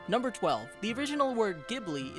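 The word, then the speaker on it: Ghibli: 12 the original word gibli is pronounced with a hard G instead of a soft G used by the studio supposedly this was miyazaki's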